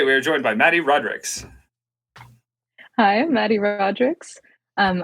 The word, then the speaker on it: Rodriques: okay I feel terrible it's actually Rodricks it has like the S at the end too oh it's like it's